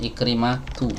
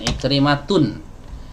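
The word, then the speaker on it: عكرمة: Afwan, Ikrimatu ya, bukan Ikrimatun. Ikrimatu.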